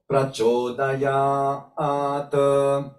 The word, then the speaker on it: prachodayat: So prachodayat. So here we have to obey firstly the dirgham, or this length of 2 units of time of ya or yat.